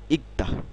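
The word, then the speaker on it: 읽다: টুরি অর্থাৎ পড়া হ্যাঁ এখানে খেয়াল করুন ই এই র গ রিয়াল গিয়ক থাকলে আমরা এই গিয়কের উচ্চারণ করব এটা আমরা শিখেছিলাম ইক দা ইকদা ইকদা ইকদা শব্দের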